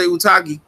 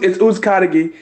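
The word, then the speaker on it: Uzcátegui: Caleb Plant finally responded to Jose Utagi. I call him Utagi. I don't give a fuck about pronouncing. Ukadagi. It's Uzkadagi.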